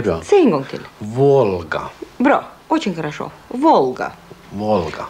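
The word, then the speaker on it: Волга: Men när vi ser Volga, då uttalet är väldigt likt det engelska L. I ordet till exempel, well. Just det. Och vi ser Volga. Volga.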